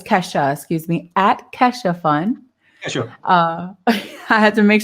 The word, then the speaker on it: Kesho: Okay, it's Kesha, excuse me, at Kesho Fund. Kesho. I had to make sure that I pronounced it correct. It's not Keisha, it's not Kiasha, it's not Kesho, it's Kesho Fund.